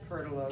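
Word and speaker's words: Pertelote: Now it befell as dawn began to spring, when Chanticleer and, how do you pronounce her name again? Pertolote.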